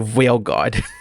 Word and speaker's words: Veilguard: Wait, how do you pronounce that again? The Veilguard.